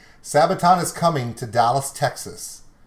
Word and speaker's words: Sabaton: in fort worth texas they start with an s and they rhyme with brabaton sabaton is coming to dallas